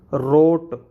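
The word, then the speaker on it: wrote: रोट, यहाँ पे भी डब्ल्यू साइलेंट रहता है, रोट, रोट इस तरीके से।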